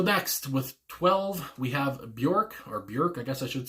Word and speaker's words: Björk: So next, with 12, we have Björk, I guess I should say, and Venus as a Boy.